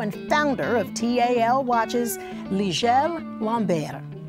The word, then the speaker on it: Ligel Lambert: Here with us to explain all this is the CEO and founder of TAL Watches, Ligel Lambert. Did I say it right? That is correct.